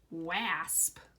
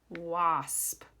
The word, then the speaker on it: wasp: word because it looks like we would say wasp if we pronounce the A with the A sound. But that's not how we pronounce it. We say it wasp.